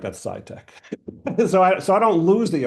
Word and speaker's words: SCITK: But it's SCITK, all caps, but it's pronounced SciTech.